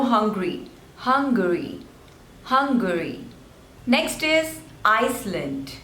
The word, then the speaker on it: Iceland: hungry Hungary next is Iceland there are two slavers and the stress is on the first one ice lent Iceland Iceland Iceland this one